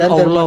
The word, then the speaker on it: Allah: Bukan Allah, Bang.